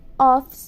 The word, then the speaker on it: office: da casa é Office a pronúncia de Office ela é Office mesmo tá gente não é Office como a gente costuma falar Home Office não é home office é home off a gente não pronuncia o a letra e no finalzinho de ovos é como se tivesse um s ali e a gente não pronuncia A Última vogal a letra e acaba ali mesmo na letra C ó e a pronúncia